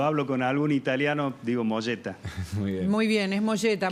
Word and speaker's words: Mogetta: discusión con Gabi civila si es molleta o moeta molleta verdad se dice es es italiano el apellido Así que es molleta la pronunciación correcta porque todo el mundo me conoce como mogueta Y usted cómo lo